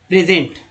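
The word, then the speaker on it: present: S को यहाँ जा उच्चारण किया गया, प्रेजेंट।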